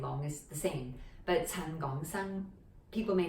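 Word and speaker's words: 陳港生: Gong is like Hong Kong, and also Gong, Gong Ye. Gong is speak, a different character but the same pronunciation. So Gong, and then Sang, like Sangwood.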